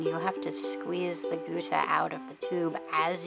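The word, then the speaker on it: gutta: The lines are called Guta. It's spelled G-U-T-T-A, and this is black Guta.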